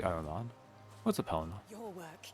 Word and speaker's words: Ahriman: I could see that because it said Ahriman, or how it's meant to be pronounced, which is like Ahriman.